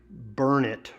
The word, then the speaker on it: Burnett: Burnett is pronounced Burnett Road.